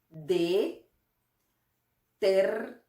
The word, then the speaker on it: detergente: Creo que esta parte, porque tiene un sonido como el de nuestra J. Este sonido es como si estuviéramos tratando de empañar un espejo. Ese mismo sonido. Entonces, vamos a pronunciarlo lentamente. Detergente.